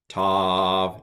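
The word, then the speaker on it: ת: It used to be that this was pronounced Th. So T, Th. I'm not going to do that. So with the Dagesh, without the Dagesh, I'm going to pronounce it the same.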